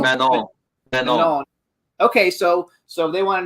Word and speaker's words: Manon: I don't know how you pronounce it. Mignon. Manon.